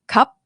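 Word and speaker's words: ครับ: I say cup cup you cannot stretch the end right it's like abruptly end cup I cannot say cup yeah I couldn't drag it like ma I could drag it so ma Ah, the syllable is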